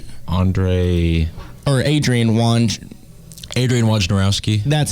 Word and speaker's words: Wojnarowski: Adrian Wojnarowski. That's how you pronounce it.